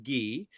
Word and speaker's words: ghee: a little bit of ghee with it or key she pronounced as a key actually key and cardamom with it